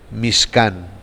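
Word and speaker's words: מִשְׁכָּן: de las tribus estaba el mishkán que más adelante se tradujo como tabernáculo y que no es la palabra correcta lo correcto es pronunciarlo en su original mix can las tribus estaban asentadas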